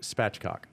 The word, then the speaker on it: spatchcock: It's pronounced spatchcock.